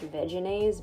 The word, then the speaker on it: Vegenaise: hand and again using veganese vegenaise i think it's technically pronounced vegenaise but i think vegan is sounds so much better added a bunch of